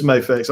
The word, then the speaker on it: Mafex: All right, so jumping back into I think this is Mafex or Mafex, however you want to pronounce it. It's Mafex.